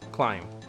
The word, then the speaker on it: Klein: How do you pronounce Klein? Well, I just did. Klein. That's how I pronounce it, Klein.